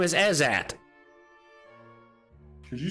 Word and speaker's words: Ezzat: His name is Ezat. Could you spell that? Sure. Ezzat. Ezat. Not very creative. As in, is that a pain in my ass or what?